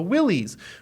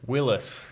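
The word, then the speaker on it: Willys: um right so there's a model called The Willies which is or how do you say it Willis yeah there's a big argument online um it's a you know Willis Overland was a big company right yeah and then it's spelled w-i-l-y-s all the G people call it Willies so in this video I'm going to call it Willy's but Willies is like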